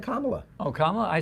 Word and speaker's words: Kamala: uh plus 145 so if you believe that Kamala is going to win right and I think I said it right Kamala yeah now if you believe she's going to win is now the time Kamala not Kamala I said Kamala oh Kamala I said Kamala